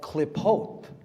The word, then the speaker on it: Qlippoth: It's called klipot, klipotic Kabbalah. Look up the klipot. It's spelled Qlippoth.